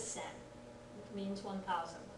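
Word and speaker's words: 千: that's an other pronunciation it can be read as Chi it can be read as sen it means 1,00 when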